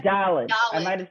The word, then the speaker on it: dalet: said Dalit. I Dalit. might have said Dalit. It Oh. Yeah, really we were helped taught me. Dalit with a D sound at the end.